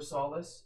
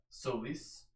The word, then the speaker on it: Solace: Actually found out, like, the correct pronunciation for Solace is actually, Solis.